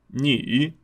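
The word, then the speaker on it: 女: É o seguinte, uma mulher é ni, ni. Lembrando que na nossa segunda aula a gente vai focar mais nas pronúncias.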